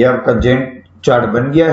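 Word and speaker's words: Gantt: ये होता है जेन चार्ट। इसमें हम इसको जेन चार्ट कहते हैं, ये सॉरी गैंट चार्ट कहते हैं। प्रोनाउंसिएशन में थोड़ी सी गलती।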